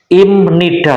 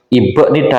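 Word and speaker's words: 임니다: Nida secara umum ya Im Nida teman-teman ini bacanya Im Nida bukan IB Nida karena B ini ketemu n b dibaca m imnida akhiran konsonan maupun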